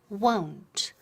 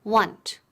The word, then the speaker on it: won't: SL negativo pero con trai dou DET emos won't won't yo hockey con la pronunciation won't es eso es como si fuera 00 won't reema khan don't ok oh ho cuidado de no decir want ok want porque so scary ok so I